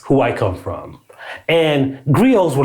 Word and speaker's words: griot: literally means blood and some people call it the griot it's kind of like how this platform spells its name but with a t right and it's not a griot it's not a g